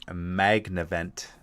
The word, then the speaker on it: Magnavent: All right, galvanic magnavent. Magnavent. I'm always tempted to put an extra syllable in there. Magnavent. Yep. Or magma vent.